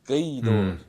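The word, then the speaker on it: Gweedore: So like uh gor in uh in Dunal is spelled in English it's spelled g we e d o r e and that that's guor but like it's it's gay or you know gay like you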